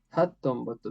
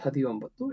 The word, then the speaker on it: ಹತ್ತೊಂಬತ್ತು: Okay, ಹತ್ತೊಂಬತ್ತು, not ಹದಿಯೊಂಬತ್ತು, it's ಹತ್ತೊಂಬತ್ತು. And 20 is different.